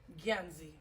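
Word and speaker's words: Gyanzy: Ganzi. Gia. Ganzi. How you spell that?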